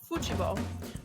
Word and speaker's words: futebol: However, the word they use for soccer is football, pronounced futebol, which gets confusing for Americans because it leads